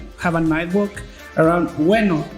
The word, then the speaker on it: Ueno: a night walk around Ueno. Ueno is like the neighborhood, like the zone we're going to be in. This is spelled like bueno in Spanish, but without the B.